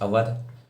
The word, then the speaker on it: अवध: Release किया, मतलब annex अवध जिसको हम OUDH अवध इस तरह से भी प्रोनाउंस करते हैं 1856 के अंदर, on basis of miss management.